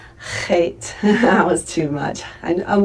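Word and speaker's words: חית: But try to take your tongue and hit it at the top of the back of your mouth very softly. It's not hard. It's not like sounding like you're bringing up phlegm or anything, but just a real soft Loch, Loch, and try to hit that sound in the back of your throat, okay?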